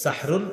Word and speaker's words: সাহরুন: এই সাহরুন, এটা সুন্দরভাবে উচ্চারণ হবে, সাহরুন।